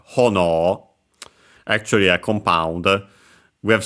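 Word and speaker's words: 炎: Because, yeah, it's a strictly Japanese word, accent on the first syllable, hono, actually a compound.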